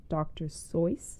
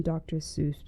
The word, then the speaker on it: Seuss: the last few years, I learned that we have been saying his name wrong. It's actually Dr. So like voice. I think I'm still just going to call him Dr. Seuss because that's what I've always called him.